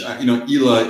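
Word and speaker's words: Islay: Like go back and watch the Brian Cox, just Kulila, which Ela is the Gaelic pronunciation of Isla.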